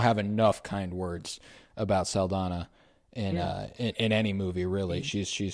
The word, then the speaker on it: Saldana: But Zoe Saldana. Yeah, Okay. it's just a slight change, but yeah, no, it's there, and that's how you pronounce it.